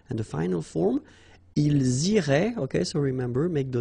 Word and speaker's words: iraient: if you look carefully, you get A-I-E-N-T. Okay, but then phonetically it goes like E. Okay, so technically these form and these forms here are pronounced the same way, and it goes like irait.